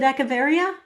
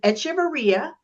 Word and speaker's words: Echevarria: No, it's so think of it as Echevarria. No, you're Echevarria, but here's how to do it. The Nina, the Pinta, the Santa Maria, the Nina, the Pinta, and Echevarria.